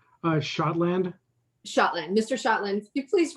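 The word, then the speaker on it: Schotland: see it okay um i'm shotland and my last name is spelled s c h o t l a n d like scotland but s c h thank you mr scotland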